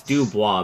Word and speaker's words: Dubois: It's Dubois, by the way.